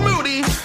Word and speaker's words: Moody: For the third year running and still gunning, the 2017 podcast co-host of the year, Gerald Moody. Last name rhymes with dude.